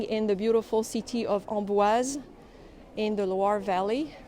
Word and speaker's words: Amboise: the beautiful city of ombuaz in the loire valley remember to pronounce the s in ombuas there is an e at the end so you have to say ombuaz so my plan is